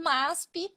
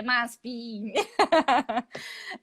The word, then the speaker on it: MASP: a gente tem depois o MASP. Olha essa pronúncia, né? Bem brasileira. MASP. Um hispano vai falar MASP. Vai bloquear o som, MASP.